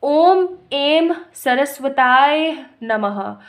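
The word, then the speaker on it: ॐ ऐं सरस्वत्यै नमः: और नेक्स्ट है ओम एम सरस्वताय नमः। ओम एम सरस्वताय नमः, सरस्वताय नमः। इसी तरीके से इसको प्रोनाउंस कीजिएगा, ठीक है।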